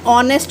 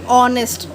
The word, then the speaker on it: honest: Like an honest man, honest. It's not a honest, it's a honest, because H is the silent letter.